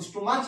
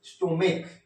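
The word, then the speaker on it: stomach: जैसे ये क्वेश्चन देखिए, ये क्या है, इसको स्टोमाच मत पढ़िएगा, इसको पढ़िएगा स्टोमेक, ठीक है।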